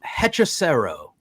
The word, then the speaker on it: Hechicero: It is pronounced Hechicero.